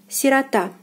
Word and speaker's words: сирота: Сирота, сирота, сирота. The stress is on the last syllable, and O is again unstressed and is pronounced as A.